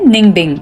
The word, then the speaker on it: Ninh Binh: नाम है Ninh Binh but pronounce होता है Ninh Binh।